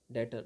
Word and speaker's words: debtor: Next word की ओर हम लोग चलते हैं डेटर। डेटर, इसमें बी साइलेंट रहता है, आपको इसे विशेष तौर पे ध्यान रखना है।